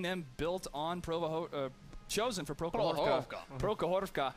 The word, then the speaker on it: Prokhorovka: Prokhorovka. What is our Russian? Prokhorovka.